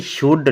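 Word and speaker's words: should: देखो भाई कहता है डी से पहले आया एल हमेशा साइलेंट रहता है डी से आया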